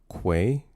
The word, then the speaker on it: Quay: It's pronounced Quay. Say it with me now. Oh, it's With a bit freaky. Quay. Quay. Not Does anyone key.